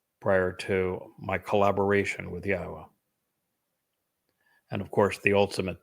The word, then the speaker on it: Yahowah: pronounce Yahwa's name but to prove that the pronunciation of his name as Yahwa is accurate and reintroduce you to your God.